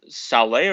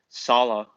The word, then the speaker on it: Saleh: I call him uh Saleh or something like that. Salah.